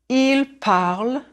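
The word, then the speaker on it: ils parlent: Il parle. Elle parle. And yes, the ENT is silent.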